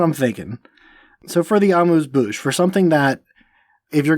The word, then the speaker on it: amuse-bouche: Amuse-bouche? Yeah. Is that how actually amuse-bouche? Yeah, amuse-bouche.